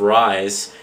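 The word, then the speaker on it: Ryse: Then we saw this new the debut of Rise. R-Y-S-E is how they spell it, from Crytek, which looks pretty interesting.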